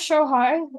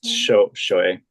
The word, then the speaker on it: Shohei: When isn't it show high? Am I telling you show? It's Shohei.